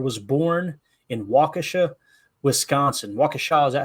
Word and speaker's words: Waukesha: Waukesha, is that how you say it? Waukesha, right?